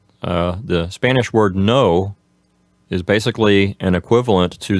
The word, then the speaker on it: no: You have that kind of O sound at the end of the word. But in Spanish, it's more dry and short. It's just no.